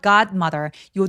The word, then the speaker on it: godmother: god mother요 d는 디귿 받침 정도로 가볍게 처리하고 바로 m으로 넘어가 주세요.